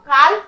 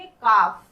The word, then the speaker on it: calf: इसे हम लोग काल्फ नहीं पढ़ेंगे, बल्कि हम लोग यहाँ पर क्या पढ़ेंगे, काफ।